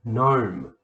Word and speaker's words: gnome: start with the n look gnome silent g mnemonic silent p there's another one